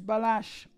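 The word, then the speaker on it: Balázs: doie do not worry the correct pronunciation is balash okay I'm going to say I'm going to go for balash then yeah bash I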